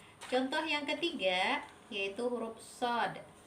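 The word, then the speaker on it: ص: Contoh yang ketiga yaitu huruf sod. Sod itu kalau dieja ada sod, ada alif, ada dal mati. Dal mati ini kita baca sesuai dengan hukum bacaan qalqalah kubra. So-nya, so itu baca 6 harokat.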